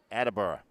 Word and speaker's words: Attleboro: go in the quarter attleborough with the 12-point lead or as they say in attleboro attabura you don't work you don't work in the city for 41 years without knowing how to pronounce it here comes smith on